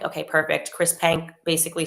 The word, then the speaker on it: Chris Penk: Minister, it's Chris Penk. Okay, perfect. Chris Penk basically said, we're reversing this ban.